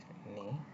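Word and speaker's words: ぬ: গেল আমাদের নি এরপর নু নু বর্ণটির উচ্চারণ বাংলা নু এর মত হবে আমরা নানিকে অনেক সময় নানু বলে ডাকি না কুমিল্লাতে বাচ্চারাও নানু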